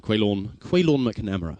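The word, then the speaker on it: Caolán McNamara: There's a good friend of mine, Quaylorn McNamara is how it's pronounced, so you can get to know him.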